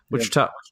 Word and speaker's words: Wichita: Paul okay so yeah Wichita not three syllables yeah all right I'll